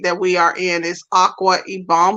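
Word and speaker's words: Akwa Ibom: we are in is aqua ibom or a koi bomb that's how we pronounce it a koi bomb and the city is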